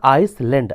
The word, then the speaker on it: island: भूमि का एक टुकड़ा जो पूरी तरह से पानी से घिरा हो, उसे बोलते हैं आइसलैंड। आइसलैंड मतलब होता है द्वीप। आइसलैंड की स्पेलिंग है ISLAND।